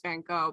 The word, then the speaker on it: Van Gogh: do you think the van gogh should go it's pronounced oh my god the american way of saying it is van gaal but i do you